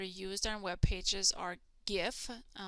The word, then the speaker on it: GIF: on web pages are gif some people pronounce that jiff but it's graphics interchange